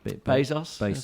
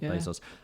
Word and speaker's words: Bezos: Is that how do you say his name? Bezos. Bezos. Interesting.